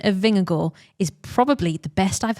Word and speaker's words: Vingegaard: Just I heard it was meant to be go, as in G-O, and that is how I say go.